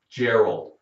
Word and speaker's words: Gerald: Gary and there's Jerry Gerald they can be spelled with a G it sounds like a j it happens we have